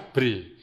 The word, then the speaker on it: Brawijaya: Bra, bacanya Bre. Bre itu gelar raja. Kemudian siapa namanya raja saat itu? Wijaya. Sehingga gelar Raja Majapahit, Bre-nya siapa? Brawijaya. Jadi ada bagus namanya ya, Brawijaya, kemudian Brawijaya.